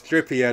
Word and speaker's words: Trippier: but uh but yeah it's Trippier not 3p are you guys you